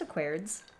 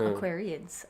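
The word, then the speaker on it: Aquariids: can't even pronounce it no it's just a chords not aquarians aquarians okay so these this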